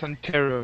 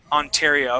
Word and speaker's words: Ontario: Yes, Ontario, yes. Ontario. Okay, so that's how we would pronounce that.